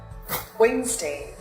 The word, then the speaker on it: Wednesday: In some cases, the letter D is not pronounced. For example, handsome, Wednesday.